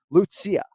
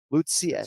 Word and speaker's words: Lucia: tricky ones but it's lucia lucia it's three syllables with the first name so lucia and of course that's